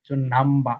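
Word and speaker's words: number: হয় মিলে হয় না নাম্বা এটুকু হবে না এটুকু হবে নাম্বা নাম্বা এমন একটা সাউন্ড জাস্টিস জাস্টিস কনস্ট্রাক্টিভ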